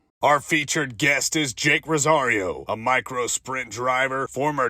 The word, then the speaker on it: Jake Rosario: right now we got Jake Rosario right yes sir did I say it right yeah you said it right see yes boom first